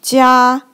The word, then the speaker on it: 加: It pronounced like 加.